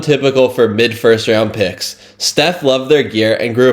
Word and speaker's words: Steph: Nike executives reportedly mispronounced his name, calling him Stefon instead of Steph.